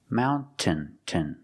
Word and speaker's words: mountain: Mountain. Mountain. Or you can make a stop T, mount, put the tongue up and stop the air, and then fall to the N.